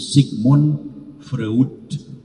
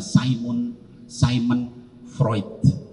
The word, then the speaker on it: Sigmund Freud: Ya, ditulisnya itu Sigmund Freud, dibacanya Simon Freud, ya, yang menyatakan psikoanalisis semua perilaku manusia didasarkan kepada seks.